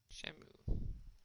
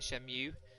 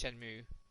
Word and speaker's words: Shenmue: Shenmue. See, I say this wrong. I always pronounce it Shenmue. M-U-E to me is Mew, and I know that's incorrect. It's Shenmue. Everybody pronounces it Shenmue in the game, but it's just stuck.